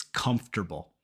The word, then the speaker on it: comfortable: until you tell us number 11 comfortable I know it looks like comfortable but it's comfortable so if we start